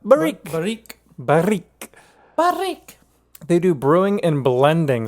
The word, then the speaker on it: Barrique: is called barik and it's spelled b-a-r-r-i-q-u-e almost like baroque but barik they do brewing and